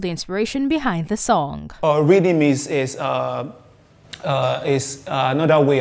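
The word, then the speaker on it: riddim: do you understand so i just speak that word reading you know like r-i-d-d-i-m you know that's the way they pronounce it wanted to do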